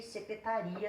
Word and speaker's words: secretaria: Agora, só para dar uma parte aqui, olha a diferença. Analise, a sílaba tônica está aqui. Receberá, a sílaba tônica está aqui. Secretaria, a sílaba tônica está aqui. Mudando a sílaba tônica, muda o sentido da palavra, tá?